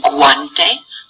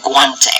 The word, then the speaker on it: guante: hard G sound however sometimes we do pronounce the U whenever it's next to a g and that is if there is an A or an O after it okay so here we